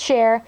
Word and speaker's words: Sher: by holiday Barbie's dress her name's Sher not spelled like c h e r spelled like share like I'm going to share this doll with you share don't ask I named